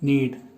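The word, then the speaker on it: knead: पहला वर्ड है ए नीड just नीड्स S public and लीड इसमें के साइलेंट है इसका मतलब होता है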